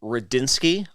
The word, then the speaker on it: Rudzinski: it it is a it's an intimidating name to look at but it does sound exactly the way that it's spelled I say I